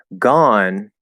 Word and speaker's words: gone: trust the spelling here gone is an exception where it has a silent e but it's still the fifth vowel on the vowel chart and again for those